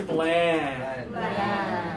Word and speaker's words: bland: with the two fingers up this one is bland yeah she's bland she has no fun she